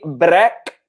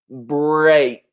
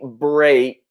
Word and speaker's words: break: mistake it's not a black okay it's not a brick but it's a break okay so you pronounce it just like the first letter in the alphabet a B C break so what think this